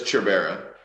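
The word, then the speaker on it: Cerbera: a TBR sir good it's sure it's cherubera is what it's pronounced as a c-e-r-b-e-r-a I think that that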